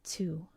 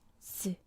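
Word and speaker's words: つ: It is used all the time, and it is not to. It's pronounced tsu, tsu, tsu, tsu.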